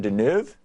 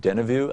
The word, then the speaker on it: Deneuve: It's Catherine Deneuve. I was saying Deneuve.